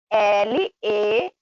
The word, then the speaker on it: leave: A palavra que nós usamos na nossa frase, ela está marcada de rosa, que é L-E-A-V-E. E amarelo, que significa viver, L-I-V-E. Mas a pronúncia é bem mais parecida ainda do que a escrita, né?